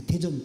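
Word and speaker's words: 大田: いうね、太田と書いて韓国でテジョンという町があるん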